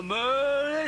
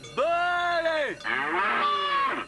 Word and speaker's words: Belay: C'est pas meulé, c'est belé.